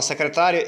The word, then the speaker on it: secretária: Na palavra secretária, eu não separei o i e o a.